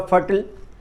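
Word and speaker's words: fertile: जैसे फर्टाइल रेप्टाइल missile सिनाइल इनका उच्चारण ब्रिटिश इंग्लिश में आईल होता है। जबकि अमेरिकन इंग्लिश में अल होता है। जैसे फर्टाइल का अमेरिकन इंग्लिश में उच्चारण होगा फर्टल। ब्रिटिश इंग्लिश में फर्टाइल उच्चारण होता है।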